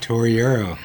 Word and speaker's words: Torriero: Is it my correct pronunciation for your? That's it, Torriero. Torriero. That is Spanish name? It's Italian name.